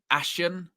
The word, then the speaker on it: ASEAN: If it's ashen it's not it's not Asian. It's it's like ash ashen some something like that.